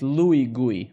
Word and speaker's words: Luigi: I just added the U to Luigi, right? So you pronounce it Louis GUI, right?